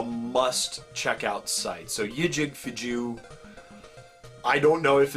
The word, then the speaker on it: JewWario: The next place that I want to talk about is JewWario. That's how I pronounce it.